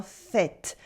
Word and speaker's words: faite: C'est une peinture très bien faite. Une peinture is a feminine noun in French, so the adjective gets an extra E at the end, which makes the T stop being silent.